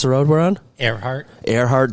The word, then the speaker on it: Earhart: Earhart Drive. Like Amelia, yeah.